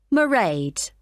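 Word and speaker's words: Mairead: do you spell that it's m a i r e a d marade okay got that it's not a name i'm familiar with oh it's an irish name she comes from dublin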